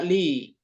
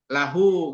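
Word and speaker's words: لِ: ya berikutnya adalah kata-kata Li kepunyaan atau milik ya Li Ini bisa juga lahu gitu ya Li atau la dibacanya kalau sudah disambung bisa La juga jadi cuman engak pakai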